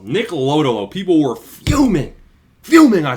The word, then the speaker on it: Lodolo: Nick Lodolo, he's priced as +1.